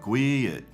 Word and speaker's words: gwit: All right, so if I'm using the word gwit, I'm almost making two syllables out of it, like gwit, gwit, gwit. It's almost like I'm putting a little bit of an Arkansas accent on it.